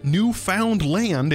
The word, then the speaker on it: Newfoundland: We've also got English Newfoundland over here, or Newfoundland, if you want to say it phonetically.